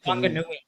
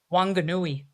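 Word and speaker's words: Whanganui: Wangui. Say that again. Wangui. Wangui. So I'm pronouncing it way wrong.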